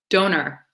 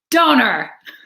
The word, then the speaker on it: donair: Donor. Donor. That's how you pronounce it.